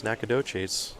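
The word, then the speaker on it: Nacogdoches: room that she moves in on friday it's nakadochis texas i would have never pronounced that so i'm glad that you know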